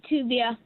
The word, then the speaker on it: Tuvia: hi hey is it is that what how you pronounce your name you got it right tuia okay all right okay